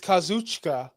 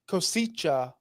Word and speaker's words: Kazuchika: good all right because everyone says it's kazuchika okada but really he always pronounces himself as kicha okada okay but everyone says you'll hear it tonight Kucha okada that's not how you pronounce his name according to him okay I sayata I